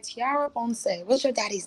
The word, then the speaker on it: Ponce: If you mispronounce my name, he gonna go, it's Ponce. It's Ponce.